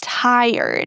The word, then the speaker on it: tired: This word, a lot of students say tired, but this is not the way we pronounce it. We start with tie and then we pronounce er as in bird and then the d.